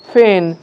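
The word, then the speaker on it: feign: জি silent তাই ফরেন, জি silent তাই ফেন, এবং জি সাইলেন্ট রয়েছে বা নীরব রয়েছে তাই এটা উচ্চারণ হবে সাইন।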